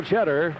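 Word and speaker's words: Chetter: her and here's Mel cheddar TS c h e t t e r pronounced the same as the cheese cheddar 180 average bowling for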